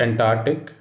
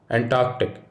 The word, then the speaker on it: Antarctic: the next word is antarctic it is not antarctic the correct pronunciation would be antarctic just think of an arc of ants and ant arc and that should help